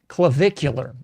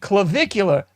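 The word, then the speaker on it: Clavicular: Clavvicular. I think that's it. Clvicular. So allegedly, you got a a grown man going by. I believe it's pronounced clavvicular.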